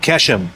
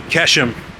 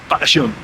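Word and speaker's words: Qeshm: Tomorrow we will go to see Kashem. Actually, it's not pronounced Kashem, but they have this Q that's coming from Arabic. It's like here, go. So it's Kashem.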